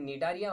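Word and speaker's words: Cnidaria: जी नहीं, इसीलिए these are also known as एस्निडारिया, एस्निडारिया। वैसे इसका प्रोनाउंसिएशन निडारिया होता है, मैं इसको एस्निडारिया ही पढ़ता हूं, ठीक है ना।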